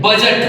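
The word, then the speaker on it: budget: हम लोग लिखते हैं बजट बी यू डी जी ई टी इसको बहुत सारे लोग पढ़ नहीं पाते हैं। ये क्या है? बजट है जी से पहले हमेशा डी साइलेंट होता है।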